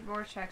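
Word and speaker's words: Rorschach: like I don't know Roar Shack yeah he Roar Shack said it right mhm with the The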